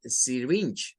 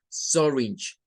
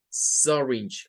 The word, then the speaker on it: syringe: Para decir una jeringa en inglés, no es syringe, no es con I, es syringe. Syringe, con el schwa.